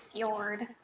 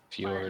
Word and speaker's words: fjord: I think it's pronounced as like a Y, the J. It's fjord. Fjord.